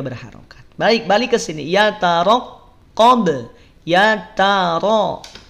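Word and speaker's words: يَتَرَقَّبُ: Yataraqqab. Yataro. Pelafalannya perhatikan. Cara melafadzkannya. Yataraqqab. Yataro. Lihat, tidak yataraqqab. Tapi yataraqqab. Ra-nya tebal. Ya, ra-nya tebal.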